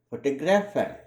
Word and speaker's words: photograph: For example, let us look at the following three related words: photograph, photographer, photographic. These three words, though related in meanings, are pronounced differently.